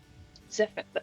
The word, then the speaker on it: Zephyr: Zephyr. I'm pronouncing that right, am I? Yes, you are. Yeah, you're Okay. pronouncing it correctly in your funny accent.